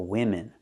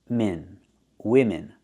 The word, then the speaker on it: women: women perfume is for women pronunciation both vowels are the same we're using the I sound like this is I I I wi women women is a plural two